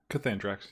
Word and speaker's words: Cathandrax: Cathandrax. Mm-hmm. How do you say it? Cathandrax, you said it right.